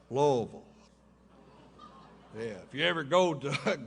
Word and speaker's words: Louisville: He didn't say Louisville. It's pronounced Louisville.